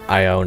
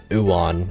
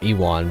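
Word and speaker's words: Ewan: haven't been oh also I've been informed that ion is actually pronounced as uan or iwan something of the sort uh glacio has been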